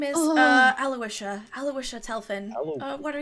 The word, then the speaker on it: Aloysia: that at the beginning a-l-o-y-s-i-a so my head read that but hers is actually pronounced more phonetically aloysia aloysia um Neri is